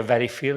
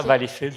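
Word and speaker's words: Valleyfield: puis il y a Valfield et Valfil dépendamment dans quel quartier il y a deux façons de prononcer sans le D. Valéfil. Ouais c'est ça. Valfil sans le D. Savoir si jamais j'anime un congrès à Valfil. C'est ça pas de prononcer le D.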